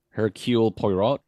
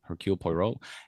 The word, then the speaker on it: Hercule Poirot: came out called uh her kill poirot or i i butchered that pronunciation hercule poirot and i pray play